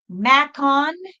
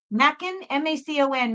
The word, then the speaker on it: Macon: Lisa, 1962, Macon, M-A-C-O-N, Macon, or Macon, Georgia, U.S.